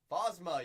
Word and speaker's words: Phasma: Phasma? Phasma, yeah, you got Phasma, a little plasma.